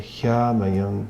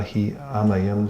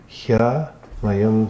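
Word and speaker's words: ह्यामयं: It's Tadeva hyamayam dravyam. Instead of Tadeva hi amayam dravyam, it adds an extra syllable that's not actually there in the Sanskrit. So it's Tadeva hyamayam dravyam.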